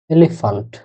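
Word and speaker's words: Elefant: এ, এল, এ, এফ, আ, এন, এ, একত্রে এলিফ্যান্ট। এলিফ্যান্ট মানে হাতি। এটা একটু মনে রাখেন যে জার্মান যেটা ওটা আসলে উচ্চারণ এ।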